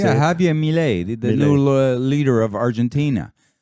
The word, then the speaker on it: Milei: So the most significant part of the World Economic Forum last week was the speech by Javier Milei, right? Whatever, how do you say it? Yeah, Javier Milei, the new leader of Argentina.